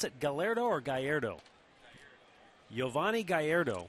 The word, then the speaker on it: Gallardo: In that Milwaukee Pirates game, this sensation for Milwaukee, do you pronounce it Gallardo or Gallardo? Giovanni Gallardo.